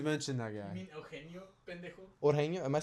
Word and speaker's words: Eugenio: You mean Eugenio, pendejo?